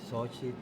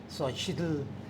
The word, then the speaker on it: Xóchitl: Señora X, Xochitl. Xochitl. Xochitl. Xochitl. Como decimos en Chihuahua, sería Xochitl. Xochitl. ¿Sí? La pronunciación en náhuatl sería Xochitl.